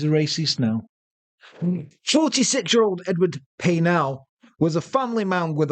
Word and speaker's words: Paisnel: believe that's pronounced Paisnel. Is You it? don't pronounce the S.